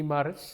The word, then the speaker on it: Maris: Maris.